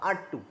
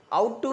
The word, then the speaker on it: ought to: देखिए आज यहाँ पर एक कॉन्सेप्ट है आपका R2, OUGHT, तो इसका प्रोनाउंसिएशन क्या होगा? R2, आउट टू नहीं, क्या होगा?